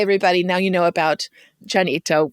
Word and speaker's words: Llanito: So, hey, everybody, now you know about Llanito, which is it spelled with 2 L's? Yeah. Yeah. So Llanito.